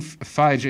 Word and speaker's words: Feige: Kevin Feige or fight I first pronounce fight can feed no no no Kevin Kevin Phi J is the guy who's